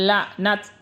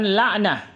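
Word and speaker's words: لعنت: Kalau waqaf tetap menjadi ta maftuha. Tumma nabtahil fajaal laknat. Laknat bukan laknah.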